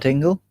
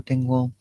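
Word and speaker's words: Dingwall: highlands is in dingwell we got Dingle no ding wall oh ding wall yeah and the one in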